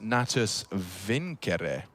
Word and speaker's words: Natus Vincere: navi's full name and want to say it correctly as in the latin uh it's actually pronounced nattus vincere okay so there you